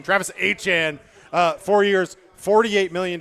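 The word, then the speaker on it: Etienne: The highest paid previously Josh Jacobs from Green Bay, Travis Etn, sorry, new new pronunciation. Travis Achan, uh, four years, $48 million for each of those two.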